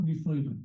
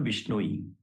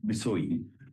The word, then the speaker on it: Bisoi: My name is Bisoi. All right. Vishnoi. Not Vishnu. Bisoi.